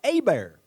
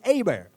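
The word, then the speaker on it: Hebert: The other one is Bobby Abear and that's spelled H E- R T, but I do know how to pronounce that. That's Bobby Abear.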